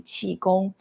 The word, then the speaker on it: Qigong: Um, so in Chinese, I was born and raised in Beijing, so we call it Mandarin Chi. So when I say Chigon, it's actually chiong.